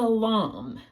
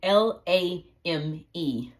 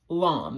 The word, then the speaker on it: lame: now this is a LOM spell l a m e LOM it looks like lame but it's pronounced Lum and you have long